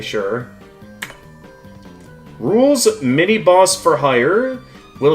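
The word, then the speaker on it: Rouxls: theme here is called It's pronounced Rules, which I specifically for all the players, including me, who mispronunciated Rules's name as uh Roxil's Card. Like, let's be real. Everyone thought it was pronounced Roxel's card, not realizing the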